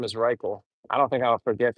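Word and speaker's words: Rychel: But I was talking to the one Filipino, his name is Riel, which rhymes with Michael. R Y C H E L. His name is Riel.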